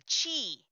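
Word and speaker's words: Qi: wireless charger nice those little t is the chi wireless charger it's called q i and it's pronounced thank you john for helping me on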